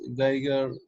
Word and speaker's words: Geiger: Uh, we have this Geiger in other places. Geiger Mueller tube we have for detecting alpha, beta, gamma particles. So the pronunciation, it should be Geiger, huh?